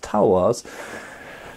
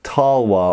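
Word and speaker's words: talwar: but I'm used to tulwas. For any of you in India watching, yes, I know that in most parts of India it is pronounced tulwa or talwa or something like that.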